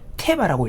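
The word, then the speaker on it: תֵּבָה: 놀랍게도 히브리어로이 갈대 상자는 테바라고 읽는데 이와 똑같은 단어를 방주라는 그 단어에도 동일하게 사용을 하는 것입니다.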